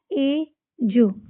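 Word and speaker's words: edge: ए ज एज। इसमें भी डी को साइलेंट कर देंगे।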